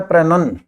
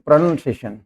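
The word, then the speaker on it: pronunciation: देखिए, ये शब्द होता है प्रोनन, नाउन नहीं होता है, PRUNUN, प्रोनाउंसिएशन, सॉरी, मतलब NOUN नहीं होता है, प्रोनाउंसिएशन।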